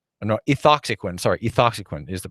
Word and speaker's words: ethoxyquin: x aki qin no II thought sequence re ethoxyquin is the pronunciation and so the question is if it's